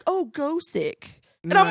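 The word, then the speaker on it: Gosick: it's pronounced that because in Japanese it's supposed to be Gothic but the th they can't pronounce so it's so and I found that out everybody I talked to was like oh go sick and I'm like it's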